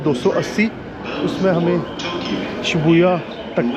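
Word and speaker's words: 渋谷: देखा भी इसे कुछ लोग शिबु भी बोलते हैं शिबुया भी बोलते हैं बट अब मुझे पता चला है कि यहां पर ज्यादा शिबुया कहते हैं तो अब से मैं इस जगह को शिबुया प्रोनाउंस करूंगा सो एनीवेज जो जो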